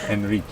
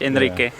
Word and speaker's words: Enrique: Harder to pronounce for Americans, but Enrique. Yeah, you can try like the Spanish. Enrique.